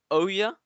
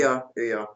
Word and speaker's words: Ouya: I should know how to pronounce this. The Oya? Oya? Give me a hand here, Jesse. Ouya.